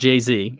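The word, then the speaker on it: Geyse: name especially because it's about GE Y s e and it's pronounced JZ which I love and she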